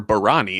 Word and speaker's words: Barani: I just call it a It's a So, Bari or Barani is three syllables and you say it like it's two syllables.